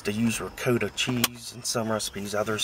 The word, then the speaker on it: ricotta: So when they say, they'll be like, well, it's pronounced ricotta. And it's like, yeah, okay, maybe in Italy they say ricotta or, whatever. This is America. We say it ricotta.